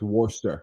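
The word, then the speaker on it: Worcester: is just racist man that's how you pronounce it it's Worster in case you trying worshire worshire he's good people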